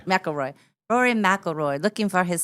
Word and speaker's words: McIlroy: McLemore? McIlroy.